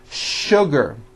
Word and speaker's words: sugar: What you may not know is that there are some words in English that are written with the letter S, but are pronounced with the SH sound. Words like sugar and sure.